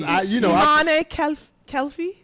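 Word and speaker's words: Imane Khelif: Oh yeah, you have the pronunciation right because Imane Kelfi.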